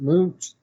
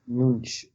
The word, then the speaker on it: Munch: How do you pronounce the last name? Was it Munch? Munch.